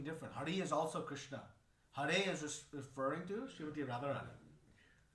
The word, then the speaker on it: Hare: See, sometimes we say Hare Krishna. It's not Hari. Hari is something different. Hari is also Krishna. Hare is referring to Srimati Radharani.